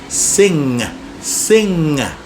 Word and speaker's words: sing: We don't hear the g because the g is pronounced in a certain way. In fact, the ng. Sing. Sing.